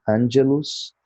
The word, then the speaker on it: angelus: O G soa como G, Angelus.